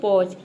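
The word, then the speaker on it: pause: जैसे कि यहाँ पे देखिए पॉज, पॉज में देख सकते हैं पी का प हो जाएगा, ए यू आ गया तो ये अ हो जाएगा, और एस का हो जाएगा ज, और इस साइलेंट है क्योंकि वर्ड के अंत में आया है, ये हो जाएगा पॉज।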